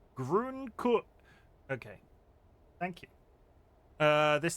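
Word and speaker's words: grün: But the u with the yumlau sounds more like a u not pronouncing with the w too much. Grun.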